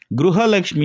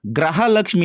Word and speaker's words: ಗೃಹಲಕ್ಷ್ಮಿ: ಅರ್ಥ ಏನಾಗುತ್ತೆ ಹಾಗೇನೆ ಹಾಗೇನೆ ಈ ಒಂದು ಗೃಹಲಕ್ಷ್ಮಿ ಯೋಜನೆನ ಗೃಹಲಕ್ಷ್ಮಿ ಅಂತಾನೆ ಹೇಳಬೇಕು ಆದರೆ ಇದನ್ನ ಗ್ರಹಲಕ್ಷ್ಮಿ ಅಂತ ಹೇಳಿದ್ರೆ ಏನಾಗುತ್ತೆ ಅದರ ಅರ್ಥ ಏನಾಗುತ್ತೆ ಗೃಹಲಕ್ಷ್ಮಿ